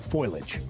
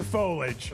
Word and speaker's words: foliage: time for the fall foilage. Fall what? Foilage. Okay. Is it foilage or foliage? It's foliage. Foliage. It's three syllables.